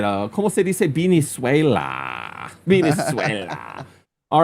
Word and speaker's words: Venezuela: Yeah, Venezuela. That's how you got to say it. ¿Cómo se dice Venezuela? Venezuela.